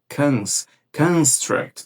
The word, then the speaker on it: construct: Ele dá ênfase aqui na primeira sílaba, que é o cons. Cons construct, tá?